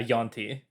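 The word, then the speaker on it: Yuan-ti: YAUN dash TI like yawn. Oh, okay, I see it. Yeah, Yanti.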